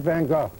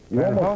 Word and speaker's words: Van Gogh: Vincent Van Go. That's who he is. Ben Hawk. Van Hawk said it right.